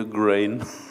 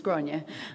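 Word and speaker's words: Gráinne: supposed to say anymore i said i wouldn't call you a grain there's all sorts of variations the most common irish pronunciation is gronia um grenia that was it that was what i meant to say so there's multiple variations accepted so ronnie please welcome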